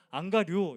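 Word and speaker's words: ἀγγαρεύω: 그래서 억지로 같이 가게 했다라고 하는데이 억지로라는 단어가 헬라어로 안 가류라는 단어입니다. 어 안 간다라는 그런 의미처럼 들리는데 발음이 자꾸 그렇게 들리는데 안 가료 이런 단어입니다.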